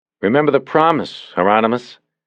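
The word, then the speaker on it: Hieronymus: He looked at Bosch through the camera and said, "Remember the promise, Heronmus. Rhymes with anonymous," Bosch said.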